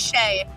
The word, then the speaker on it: Shea: So, it helps people remember what my name is, how to say it, how to spell it, all of that.